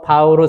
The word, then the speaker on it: 바오로: 그러니까 이거 약간 영어 같지도 않고 바울로 그래서 별로였는데 나중에 이제 크면서 바오로 사도가 이제 원래 발음은 폴 파울루스 이런 걸 알게 되면서 아 그래 한국어 발음이 이제 바오로고 더 멋진 분이구나 이제 알아가면서